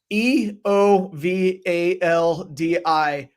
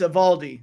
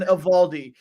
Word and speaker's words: Eovaldi: I mean come on e o v a l d i but the O is silent don't say eovaldi don't be one of those it's evaldi Nathan evaldi I'm gonna go over